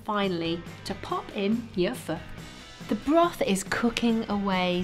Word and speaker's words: pho: You may think it's pronounced pho, but actually it's pronounced pho.